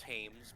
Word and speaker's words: James: to partake so terribly james spelled with a quack yeah and uh yeah he puts it down and then we pronounce hames but no one really